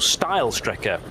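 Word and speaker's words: Steilstrecke: we back to green no not quite steel Striker is now still Striker being that effectively the straight line route through the karachiola carousel so uh or style Striker would be the correct pronunciation where the track used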